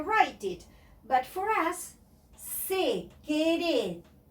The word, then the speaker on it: secretaria: But for us, secretaria, secretaria, we have to pronounce every letter.